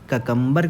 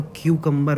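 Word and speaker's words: cucumber: देखने को मिलता है, ककम्बर के केस में देखने को मिलता है। ककम्बर मैं जानबूझ के प्रोनाउंस करता हूँ, इसका असली जो सही प्रोनाउंसिएशन है वो क्यूकम्बर होता है।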